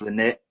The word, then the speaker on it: Lynette: Her name is Lynette. Am I pronouncing your name right?